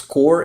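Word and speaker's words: corps: Pronounce core in the USA, us too. US, not us. It's from French. Wow, that's interesting. Core's, yeah, core pronounce core with PS silent.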